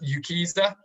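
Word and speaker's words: UKCISA: out that website there they pronounce that as you keyster um and they have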